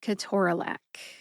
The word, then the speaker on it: ketorolac: The next syllable is tor, which rhymes with door, then which is a short schwa A sound, and finally lac, as